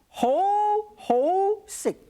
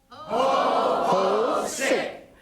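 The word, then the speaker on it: 好食: Ho sick. Ho sick. Isn't that simple? Just like Santa Claus.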